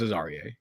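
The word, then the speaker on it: Azareye: Is it Azariah or Azarie? I believe it's Azarie. Azarie? Okay. Yeah, Azarie I've heard people say Azariah. I think those people are wrong.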